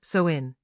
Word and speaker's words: Samhain: The history of Halloween can be traced back over 2,000 years to the ancient Celtic festival of Samhain, pronounced Samhain.